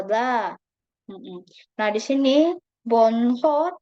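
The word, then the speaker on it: 번호: Heeh Nah di sini bonho cara baca yang benar ya rabun h-nya sama jadi langsung Bono ya bonoonon Jadi kalau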